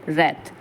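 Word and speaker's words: wrath: from my royal अर्थ royal रथ ठीक है तो रथ मींस क्या होता है यहां पे कि जैसे यह जो डब्लू है ना यह साइलेंट है रथ का मींस होता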